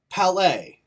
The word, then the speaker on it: Palais: Palace? Palais? Palais.